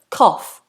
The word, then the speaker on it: cough: your chest, you might cough to cough. It looks completely different to how it sounds. We have an F.